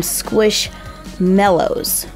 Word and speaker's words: Squishmallows: I've heard them pronounced a ton of different ways, but they're kind of like marshmallows. I mean, they've even got a picture of a marshmallow right there. So we should call them Squishmallows.